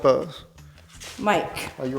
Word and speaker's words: Bose: That's not Bose. Yeah, that's Boss. No, it's pronounced Bose.